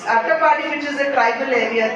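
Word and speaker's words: Attappadi: And as I was in Palakkad yesterday also, Ettipadi is the tribal area there. Attapadi, sorry, my pronunciation may be wrong. It's Attapadi, which is a tribal area there.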